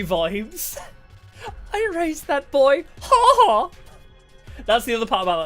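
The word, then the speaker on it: 母: Kaga saying mama, but apparently in Japanese mama is said like haha or something like that. Like that's a way to say mother is like haha.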